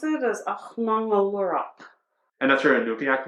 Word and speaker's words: Aġnaŋuluuraq: So how you pronounce it is Aġnaŋuluuraq.